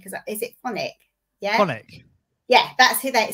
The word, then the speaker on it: Phonic: So if people want to get in touch with your business, because it's pronounce it properly for me. Because is it Phonic? Yeah. Phonic.